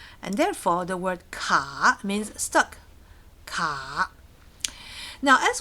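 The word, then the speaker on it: 卡: So we picked ka. 3rd tone, down, up. Ka.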